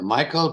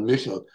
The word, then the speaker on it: Michel: is the missile catalog some people pronounce it in North America Michael but in Germany they're called Mutual because a guy who